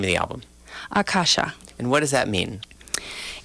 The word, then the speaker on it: Akasha: pronounce the language but Akasha and the line you know the accent over the two first the first two A's those are long a so uh kasha is